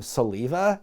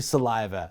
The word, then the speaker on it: Saliva: the DJ on the rock station called them Saliva, and then after the song was over he corrected himself and said, oh my bad, it's actually Saliva.